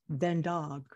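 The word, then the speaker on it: God dag: Ven dog. Say again? Ven dog. It's spelled Vendag. F-I-N-D-A-G. And it's pronounced Vendag, which Vendag. Means good day.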